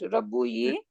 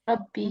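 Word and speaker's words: رَبِّي: Can I pronounce that? Rabbu yi? No. Rabbi. No. Rabbi. Yeah.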